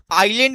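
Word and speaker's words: island: आइलैंड में क्या silent है? तो आप सभी को बता दें यहां पर एस साइलेंट है।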